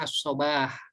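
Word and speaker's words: الصباح: ya lihat cara penulisannya kalau ada Alif ini dibacanya ashobah Iya waktu pagi yaitu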